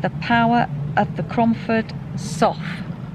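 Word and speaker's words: Sough: power of the cromford sof I think that's how you say it s o u g h a Lead Mine drainage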